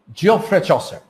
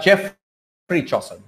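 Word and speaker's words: Geoffrey Chaucer: জিওফ্রে চসার, বা জেফ্রি চসার, দুটো উচ্চারণই হবে, জফ্রে চসার অথবা জেফ্রি চসার।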